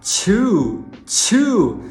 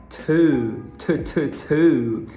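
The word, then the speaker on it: two: Bom, se te deu vontade de falar chew, saiba que você acabou de falar mastigar e não o número 2, que a pronúncia é to.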